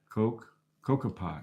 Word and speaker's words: Kokopelli: Pronounced Kokopelli. Kokopelli.